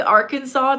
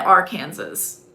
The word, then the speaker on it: Arkansas: We have Minnesota, Maryland, Missouri, Holland, Mississippi, Arkansas, Texas. Isn't it kind of annoying that like it's Kansas, and then Arkansas? Why isn't it our Kansas?